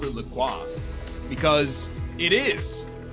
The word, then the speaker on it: LaCroix: Lucroy officially tweeted out the proper way to pronounce Lacroix what do they say it's Lacroix yeah don't you feel